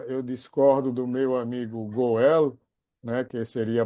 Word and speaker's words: Goel: Então, acho que a transoral, aí eu discordo do meu amigo Goel, né, que seria a pronúncia correta, é que eu, não, eu vou dizer igual a outros colegas da Índia, nunca diga nunca.